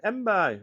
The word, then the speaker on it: Mbaye: Am I pronouncing it right? You know what I'm like? It's not Jack Daniels or John Smith's. Where's my notes here? I've got my notes here. Mbaye. Yeah, Mbaye. Right, okay.